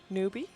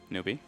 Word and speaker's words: Newbee: So can you pronounce the Chinese team's name, please? Newbie? Newbee? Newbie. Okay. Why does every announcer, including the TI one, say Newbee? Does that bother anybody?